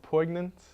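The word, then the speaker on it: poignant: poyant and meaningless but is that how you say that PO or po I think the silent G is definitely silent silent tweet us if the g is silent or not Ash the take #v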